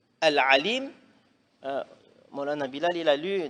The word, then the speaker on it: العليم: Mais si on ne prononce pas bien le ayn, on dit a.